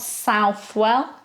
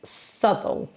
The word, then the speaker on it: Southwell: It's not Southwell, it's Southwell. He was the man that gave evidence against Henry Howard, Earl of Surrey. So it's not Southwell, it's Southwell.